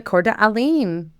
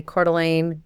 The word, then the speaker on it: Coeur d'Alene: The Coeur d'Alene. Yes. For anybody that's not familiar, I just have to say Coeur d'Alene, you could never spell it.